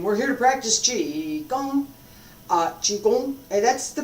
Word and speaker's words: Qigong: Qigong, and that's the pronunciation, by the way.